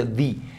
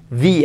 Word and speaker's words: the: is red Por cierto recuerda Esa diferencia en la pronunciación cuando lo que siga después de esto sea una vocal tengo que pronunciar es The se escribe lo mismo pero pronunci the the Apple the elephant the actress segundo uso